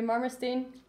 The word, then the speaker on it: Marmerstein: Well, I think you all know Yuri Marmerstein.